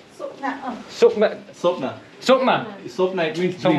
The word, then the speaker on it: Swapna: If it's Sopna, it's S-W-A-P-N. Sopna, yeah.